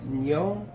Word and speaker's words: Nyo: It's Nyo, N-Y-O, like in gnocchi.